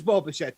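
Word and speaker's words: Bichette: and like you said it does rhyme with shmo machete it is boba shet 10.2 draftkings fantasy points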